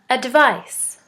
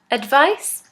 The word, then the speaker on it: advice: device with a c' is pronounced as an S advise advise with an S is pronounced as a Z advise advice advice is a noun advice